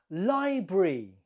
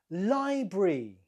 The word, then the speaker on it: library: you say this word library library the stress is on the first syllable library number two how do